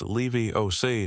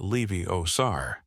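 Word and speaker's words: Leviosa: You're saying it wrong, she tells Ron. It's Levy Oay, not Levy Osar.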